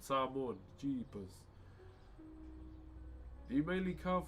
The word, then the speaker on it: Samoan: Are you Samoan? Nah. Why did I say it like an American? Samoan.